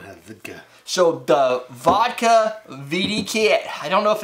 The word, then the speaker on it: VDKA: So the vodka VDKA, I don't know if it... VDKA. I would pronounce it vodka still.